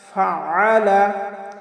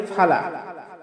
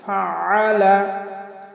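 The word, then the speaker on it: فَعَلَ: আলাম তার কাইফা ফাআলা, আমরা অনেকে পাঠ করি ফালা, কাইফা ফালা। আসলে ফালা বললে আইনের উচ্চারণটা হয় না, কারণ আইনের উচ্চারণ আমাদের হলকের মধ্যখান থেকে একটু চাপ দিয়ে উচ্চারণ করতে হবে। তাহলে আমরা পাঠ করব ফাআলা ফাআলা আলাম তারা কাইফা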